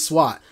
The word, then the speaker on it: Sweat: telling you montes sweat his name is no longer montage sweat the e is silent like in like the g is silent lasagna the e is silent and sweat because he is montez swat i know we gave